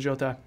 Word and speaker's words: Jota: And Diogo Jota, I don't know if it's Jota or Jota because Jota. Yeah, it's Jota because is he Portuguese? Yeah. That's why, or yeah. So the pronunciation would be Jota.